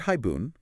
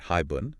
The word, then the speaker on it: haibun: So, the word haibun, we say it in two syllables, right? Hi-bun. Yeah. But in Japanese, it counts as four on. Hi-bu-n n.